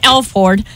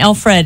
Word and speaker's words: Alford: This is Alford. He is... How do you say his name? Alford. Alford. It's not... I kept on saying Alfred, and it's not. It's Alford.